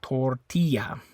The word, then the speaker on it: tortilla: the I so in Spanish the I always makes that e sound okay uh so tortilla tortilla the eyes making an e sound also the other thing